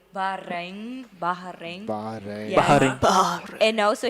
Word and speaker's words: Bahrain: He just put it here like the proper way to say Bahrain.